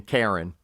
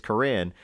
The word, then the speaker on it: Corrine: I can't tell you how many people pronounce Corinne Karen and everybody said to come out care and Quran pleasantly pleasantly says actually it's it's Corinne and they'll say oh